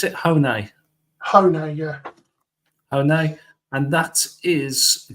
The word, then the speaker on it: Hone: How do you pronounce it? Hone. Hone, yeah.